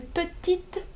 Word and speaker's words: petite: However, if you wanna say a little girl, you will say une petite fille.